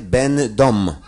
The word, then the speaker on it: będą: Piszemy ę, wymawiamy en, czyli piszemy będą, wymawiamy będą.